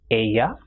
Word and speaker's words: ella: If double L comes together, which in Spanish is doble L, it is pronounced as ye. For example, ella, lluvia, or llave.